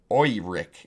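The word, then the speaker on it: Oerik: Auric, pronounced Auric or Oiric, is one of Orth's continents.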